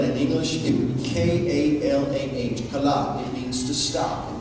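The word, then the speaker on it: כלה: And as I shared with you, I were to spell that in English, it would be K-A-L-A-H, kalah.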